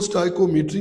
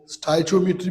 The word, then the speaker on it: स्टाइकोमेट्री: हम इसको स्टाइकोमेट्री भी कहते हैं, कहीं पे हम इसको स्टाइचोमेट्री भी कहते हैं। जिस तरह आप चाहे आप लोग इसको प्रोनाउंस कर सकते हैं, लेकिन मैं इसको स्टाइकोमेट्री ही कहूँगा।